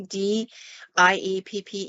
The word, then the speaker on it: Dieppe: And he gets to this one site, and it's, I believe it's pronounced Dieppe, D-I-E-P-P-E, Dieppe.